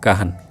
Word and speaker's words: Kahn: माने ये किए होचंती RF काहन KAHN काहन खान नुहे काहन RF काहन सी देथिले केबे डेफिनेशन ना 1931 रे तो 1931 रे गिवन बाय RF काहन जो मल्टीप्लायर कॉन्सेप्ट प्रथमे